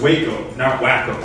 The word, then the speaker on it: Waco: think they're right first our first term is pronounced Waco this is the big question for me I